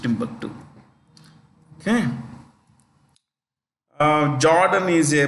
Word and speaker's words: Timbuktu: called tomu here but it's usually pronounced Timbuktu okay uh Jordan is